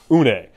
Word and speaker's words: une: In this case, it's not nice one, it's Nice one. So it's the French word for one. So it's une.